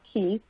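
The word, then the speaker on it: Cay: the the Cy and it's pronounced key they did not realize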